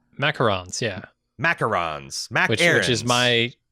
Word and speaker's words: macarons: It's not macaroons. It's macarons. Yeah. Macarons. Which is my, sure. That's my American pronunciation of a French word.